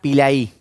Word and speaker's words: Pilay: O sea, fue un cambio y y se pronuncia en Argentina Pilaí, no Pilí como acá.